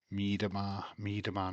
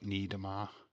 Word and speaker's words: Miedema: Is it an M or it's an M in it? Miedemar, not Niedermar. Miedemar.